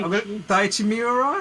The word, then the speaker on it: Daichi Miura: I'm gonna say Daichi Miura. Is that how I say his name? Yep. Right. Daichi Miura.